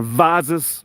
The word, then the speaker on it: vases: call them vases or vases we say Vaz is not vases I think Americans say Vegas we say vases we always pronounce the ah instead of the a Americans always pronounce the a so um earns is